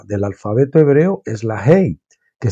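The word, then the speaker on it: ה: alfabeto hebreo es la Hey que se pronuncia con la respiración verdad llega a pronunciar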